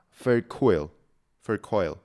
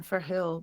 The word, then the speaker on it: Verheul: The the first name is great. Quinda and then Ferhill. But perh is a very Dutch name and pronouncing the H in such a Dutch way is is pretty hard for anyone outside of the Netherlands.